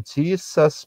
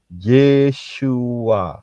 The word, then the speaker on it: Yeshua: Ya, bukan Jesus, bukan Yesus, tetapi Yeshua.